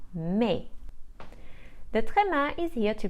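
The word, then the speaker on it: mais: give the sound e the S is usually silent when it is placed at the end of a word so the French for but is pronounced me the trema is here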